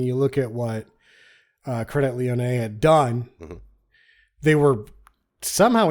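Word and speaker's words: Crédit Lyonnais: Europe taking money from credit Leon I think is how you say it it's spelled credit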